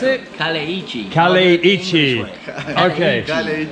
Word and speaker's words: Kaleiçi: Oh, how do you pronounce it? Kaleiçi. Kaleiçi. Okay. Kaleiçi.